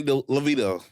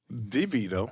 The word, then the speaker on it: DeVito: we are twins like Arnold Schwarzenegger and Danny levita DeVito DeVito I thought it was libido Danny libido